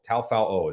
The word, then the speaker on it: Taufao: our defensive coordinator right now at UAB, Sione Taufao is how you say his last name.